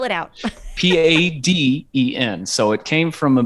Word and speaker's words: Paden: And I just get called. Um, With a T, which doesn't even make any sense because you've got a D. So Yeah. spell it out. Paden.